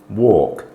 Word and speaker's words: walk: um a word uh the L Sound is much less apparent try these words walk talk chalk yoke in fact lesser apparent to the point of being silent as indicated silent letters